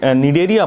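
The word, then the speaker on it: Cnidaria: दूसरा नाम इसका निडेरिया पड़ा, यहाँ पर सी साइलेंट है।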